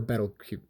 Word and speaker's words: Petelgeuse: Let's start off with Petelgeuse, or Betelgeuse. It has a P, it's like a silent P or something. I'm just going to call him Petelgeuse.